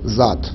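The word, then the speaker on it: ذات: a that in Arabic the word is that they use it in other languages like what to do in Persian you just pronounce it as zat so if you can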